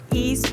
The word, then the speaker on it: Iest: The middle East is pronounced East, but it's spelled I-E-S-T, and then my last name is pronounced, like the shoe you wear, but it's spelled.